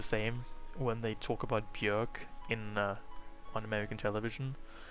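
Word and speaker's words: Björk: is by the way bjork or bjork but they always say bjork because maybe bjork just rhymes with jerk or it sounds too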